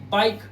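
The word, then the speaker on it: bike: किसी भी वर्ड के लास्ट में इ आता है उसे हमें हम उसे कभी भी नहीं पढ़ते। जैसे देखिए बाइक सिर्फ के तक पढ़ रहे हैं। ई साइलेंट रखा हुआ है।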